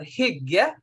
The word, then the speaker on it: hygge: Is it Hygge? Annie, have you heard of that? Oh yeah. So my Nordics have Hygge. Thank you. Thank you. That's the proper way.